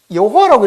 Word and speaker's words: 여호와: 자, 야훼라고 읽는 것도 여기에다 발음을 A라고 집어넣어 가지고 야훼 아마 이렇게 되었을 것이다. 이렇게 하는 사람도 있고, 여호와라고 읽는 사람들은 이 사이에 모음이 아마 E가 들어갔을 것이다.